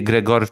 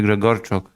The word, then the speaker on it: Gregorchuk: To be fair, everybody has been pronouncing Lance's surname incorrectly. If anything, it should be Gregorchuk. Oh, of course. You know? Yes, it is a Ukrainian name. Yeah, it has to be Gregorchuk.